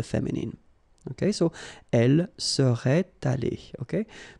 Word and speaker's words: allée: But then phonetically it doesn't exist, all right? So it's aller here and then aller here, the way you pronounce it. But if you want to write correctly, you should put it.